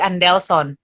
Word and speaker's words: Andelson: Saya harus pronounce Andelson punya nama dengan gaya Papua. Jadi Andelson.